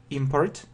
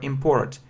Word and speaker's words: import: you pronounce this word import or import the stress is on the first syllable yeah if it's a noun and the stress in